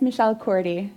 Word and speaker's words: Michelle Cordy: minor panic attack since i pronounced your name two different ways when we started and i'm not satisfied that i actually got it right so one it's michelle cordy it is i gotta